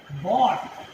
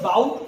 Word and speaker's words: bought: इसका भूतकाल का रूप है बॉट, BOUGHT, बॉट। पढ़ेंगे इसे, कई लोग बाउट पढ़ते हैं, बाउट, BOUGHT, बाउट, जो गलत उच्चारण है।